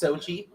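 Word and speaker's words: Xochitl: Like Xochtl. That's pronounced Sochi.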